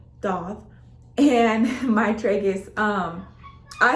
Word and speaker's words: daith: gonna be talking about my date or pronounced dot doth and my tragus um